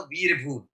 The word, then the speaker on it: वीरभूम: ज़्यादा दिमाग लगाएँ बिकॉज़ बंगालीज़ डोंट यूज़ व, दे यूज़ ब, ठीक है? उनके उच्चारण में व से ज़रा ब आता है। तो जो वर्धमान था वो एक्चुअली था वर्धमान और बीरभूम था तो वीरभूम।